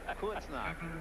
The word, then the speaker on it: Kreuznach: I hit the point that I want you to pronounce it. Kreuznach.